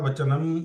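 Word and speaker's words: वचनम्: Pandavanikam Vyudam Duryodhanastada Acharyam Upasangamya Raja Vachanam Abravit. Vachanam. Okay. So वो अनुस्वार जो है उसको वो लंबा जाता है थोड़ा.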